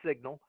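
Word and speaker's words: Cygnal: a a company called signal and it's not spelled like the word signal but uh it's one of these funky modern day spellings c-y-g-n-a-l the company's signal they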